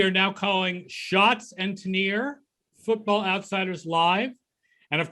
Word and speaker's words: Tanier: and Tanier, and then he said something about it rhyming with shots and beers, and so I'm like, okay, so we'll go with Schatz and Tanier.